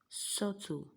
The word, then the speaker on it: subtle: is that indebted detour subtle and benign so from what we have pronounced which do you think is the silent letter here the answer is b do you understand that